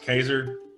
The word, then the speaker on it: Caesar: is a family name it was actually pronounced kaiser at the time but i just feel